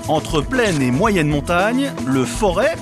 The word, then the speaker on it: Forez: plaine et moyenne montagne leforest parfois prononcé forez est aussi un paradis